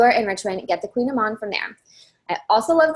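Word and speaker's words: Kouign-amann: So my favorite pastry is the Queen Amman. This is spelled way differently than it's pronounced, and if you see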